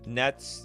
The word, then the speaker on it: netsuke: lands and other spells the you in netsuke is silent net net oh I I